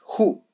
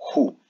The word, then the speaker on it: who: pronunciaría what, where y who. Por eso la tercera es un poco particular. Esa O final suena como una U, que haría la palabra como who, quién.